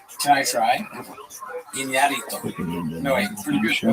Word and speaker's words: Iñárritu: And I think Iñárritu, you have to say his name right. There's an accent on the thing. Can I try? Iñárritu. No, wait, pretty good. That was good. Yeah. Iñárritu?